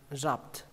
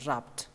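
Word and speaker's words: wrap: các bạn đọc lá rạp rạp coi như không có âm w ở đây coi như nó là âm câm đọc là rạp từ này có nghĩa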